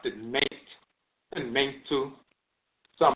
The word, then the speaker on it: Mentu: Mentu is the divinity. Mentu is the divinity, pronounced Mentu or Mentu.